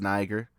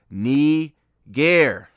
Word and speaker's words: Niger: But, like I told you, it's actually not pronounced Niger. Look, this is the actual pronouncer pronunciation. The actual pronunciation of not It's not Niger, it's Nee-gair.